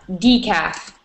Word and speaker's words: decaf: I say oh yeah decaf so DF yeah the emphasis is the first the first part decaf great excellent good question